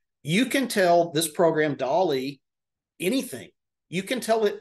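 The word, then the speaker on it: DALL-E: an AI based image generator a program called Dolly it's spelled like Wally the movie um but it's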